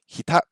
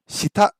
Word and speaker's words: 下: Hita. Hita means under. Is that right? Hita. 下 Hita. 下 The pronunciation sounds a little bit off. Oh, shita.